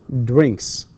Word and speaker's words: drinks: So my mother drinks, and that s here again is pronounced s because k is the last or the final sound in the verb drink.